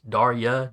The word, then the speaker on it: Darya: a babysitter all right uh uh actually it's darya d a r y a don't worry Dario he gets my name wrong too well she can't hear that because